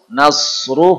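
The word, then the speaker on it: نَصْر: Nasru hurufnya sod. Nasru. Ya. Lebih tebal dari sin. Nasru bukan nasru, nasru.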